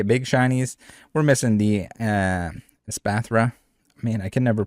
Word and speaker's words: Espathra: We're missing the Espathra. Man, I can never pronounce this. I always want to call it Espartha. It's Espathra.